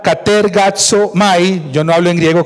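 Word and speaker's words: κατεργάζομαι: Ocúpense, la palabra griega que ustedes ven allí, pronunciada katergazomai, yo no hablo en griego como el hermano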